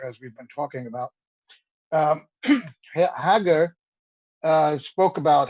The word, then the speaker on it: Hager: But the testimony began this morning with Nicky Hager, that's how he pronounces it.